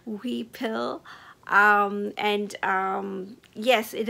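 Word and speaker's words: huipil: of uh this colorway it is spelled h UI p i l and pronounced uh weel I hope I'm saying that sort of right we pill um and um yes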